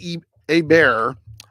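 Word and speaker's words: Hebert: with them okay now Bobby e a bear um I know that's the way you pronounce it because I actually remember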